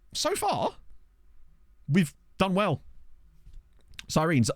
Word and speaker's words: Sirens: far we've done well sirines that's just how it's pronounced um I was made aware that it pronounced sirenes so I I adjusted accordingly I don't think I